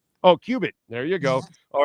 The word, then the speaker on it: Cubit: Is it pronounced Cubit? Cubit. Oh, Cubit.